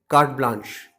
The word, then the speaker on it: carte blanche: The next word which we want to discuss is written as carte blanche, but it's actually pronounced as carte blanche.